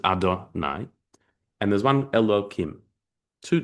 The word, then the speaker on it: Adonai: There's one spelled yud and he and vav and h, but we we it's pronounc it adonai and there's one elohim.